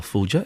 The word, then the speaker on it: Fulger: Michelle Fulger is from the Luton branch of the Citizens Advice Bureau. Is it a soft G or a hard G, Michelle? So, as you said it, that's fine.